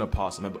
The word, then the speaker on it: opossum: That is an opossum. And before y'all get on me, some people say the O is silent, others don't. Animal Planet pronounced the O, so I do too.